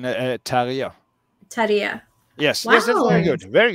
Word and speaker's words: Terje: So Amelia, I just wanted to ask you, how do you pronounce your first name in the Norwegian pronunciation? Terje.